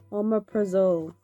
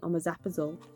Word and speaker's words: Omeprazole: bedtime routine ever ah got Omeprazole which I've been pronouncing on my zapazole for God knows how long because I get